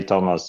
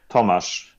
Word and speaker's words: Tomasz: You can say Thomas. It's perfectly okay. What is it? The actual? How should I say it? It's Tomasz. Tomasz.